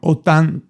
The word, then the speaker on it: ottantotto: Ottantotto. Yeah, I completely messed it up. When you get to the 8s, it's really strange. It deviates from the pattern. Deviates. Ottantotto. Ottantotto. Ottantotto. Ottantotto. Ottantotto. Ottantotto.